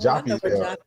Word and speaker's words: Joppa: And Joppy is spelled Joppa. But it's pronounced Joppy because one of the original spellings was Joppee.